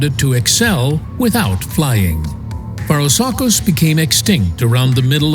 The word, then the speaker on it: Phorusrhacidae: Phorusrhacidae. This is actually a fine pronunciation. It's a bit better, but I'd still call it Phorusrhacidae.